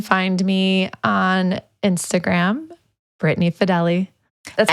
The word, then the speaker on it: Fideli: That's how you say my last Fidele. name. Nobody knows how to pronounce it. I definitely was pronouncing it wrong. Fidel. It's okay. So, yeah. Everyone says Fidel. I'm Italian. It's Fideli. Great.